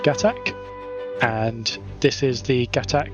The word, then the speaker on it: Gatac: I love how the pronunciation is Gatak, and they knew that going into this, yet they still put Plan of Gatak as the name of the episode.